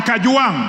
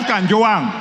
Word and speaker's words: Kajwang: all first of all pronounce my name properly I'm not a CH I am Kang not Kang number two Mr Speaker